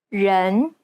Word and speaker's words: 人: Many people tend to mispronounce the E sound in the word people. They commonly substitute it for the English E, as in red. This is incorrect. The Chinese E sounds more like an ugh sound. 人 It's identical to the E sound at the end of the word problem.